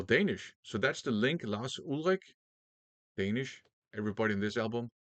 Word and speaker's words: Lars Ulrich: Now, the drummer in this band on this album is Lars Ulrich, except that's not his name. His name is Lars Ulrich because he's Danish and that's how it's pronounced in Danish.